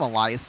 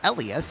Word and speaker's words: Elias: because I called him Elias to start the year, and then I found out it's pronounced Elias, and now apparently he doesn't care between the two.